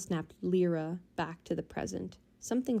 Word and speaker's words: Lyra: it says happy birthday Lyra or lra I guess is her name lra lra lra happy birthday lra he pronounced her name wrong Lyra instead of lra oh wait well this